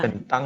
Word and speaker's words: Bình Tân: Bình Tân.